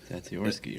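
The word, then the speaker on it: Zatsiorsky: Zatsarovsky, right? Correct. Yeah, I mean, yeah. You were calling that butchered.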